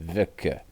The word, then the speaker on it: Vika: Look, my Vika. That's how you pronounce it. Vika. That's how you pronounce it in Russian.